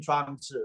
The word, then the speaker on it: Zhuangzi: Just think of Zhuangzi, Zi. All you need to do when you say his name, think of Joe as in Joseph. You can do Joseph, right? You can say Joe. And then think of the sound wound, like a wound up clock or wound up toy.